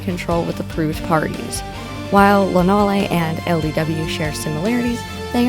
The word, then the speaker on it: Lonalé: I have heard Lonalé, Lonale, Lonal, and Lonalé, to name a few. The proper pronunciation is Lonalé. Lonal-A.